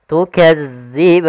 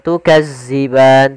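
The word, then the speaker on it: تكذبان: thii panjangnya dua harakat tukadzian hati-hati dalam melafalkan huruf Dal karena di sini bukan huruf z jangan tukazziban tapi dia tukadziban Kemudian pada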